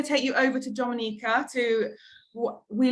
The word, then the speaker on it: Dominica: boom we call it Dominica a nature I love the Caribbean it's one punch time we call it Dominican it is spelled d-o-m-i-n-i-c-e it is not Dominican Republic it is pronounced Dominica and it's situated between